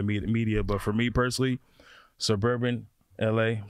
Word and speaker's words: SBRBN LA: and food, Scottie, I think, man, in the suburban LA brand, I just think that they are LA right now. And this is no diss to anybody, any other media. But for me personally, suburban LA, I'm saying it right?